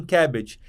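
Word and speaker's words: CABG: de R vascularização miocárdica E eles pronunciam assim cabbage e uma coisa que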